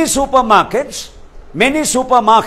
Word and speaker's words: supermarket: Many supermarkets, and mind you, supermarket is one word. Many supermarkets, so R is silent.